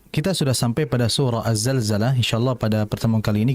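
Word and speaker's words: الزلزلة: dalam pengucapan huruf za jangan dibaca aljzalzjalah ya. yang betul adalah azzalzalah. Sama seperti idza zulzila. Jangan sampai diganti idza j zulzjila. Jangan sampai za diganti dengan jim ya.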